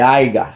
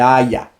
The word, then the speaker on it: haya: no se pronuncia así, no se dice aiga, se dice haya.